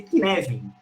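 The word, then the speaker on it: Cynefin: Inclusive, eu sou um altíssimo entusiasta, fica aqui Eu vou postar no chat, porque se pronuncia de um jeito e se escreve de outro. O framework é Kinevin.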